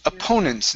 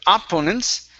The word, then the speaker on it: opponents: Okay, this word here is pronounced opponents instead of opponents.